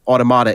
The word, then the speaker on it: Automata: talkies and nearer automata which is actually how automata is how the game pronounces its own name in the dialogue Wow okay near automata